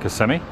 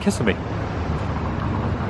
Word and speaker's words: Kissimmee: The locals call it Kissimmee. Those from out of town call it Kissimmee.